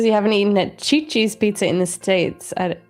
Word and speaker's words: CiCi's: Cuz I thought that's how you pronounce it in Italian. But it's CiCi's.